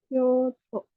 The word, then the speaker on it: Kyoto: Kyoto. Hai. Soalnya kalau Tokyo kan panjang ya to-nya Tokyo, sedangkan yang Kyoto itu to-nya nggak panjang.